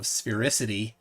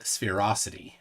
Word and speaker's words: sphericity: that's fine um phe Tony is getting after your pronunciation of sphericity uh with an eye not spherosity I like ferocity better